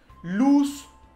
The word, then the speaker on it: luz: A pronúncia não é bem com Z. Em espanhol não tem o som de z, não tem esse som de mosquito vibrando aí. O som é sempre de SS, como se fosse, ou